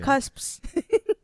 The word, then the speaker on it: cusp: Yeah, so today the word we're wondering about is cusp. Yeah. Which I believe is 2 syllables or 1.5 syllables, because the first syllable would be cus and then the second syllable is p.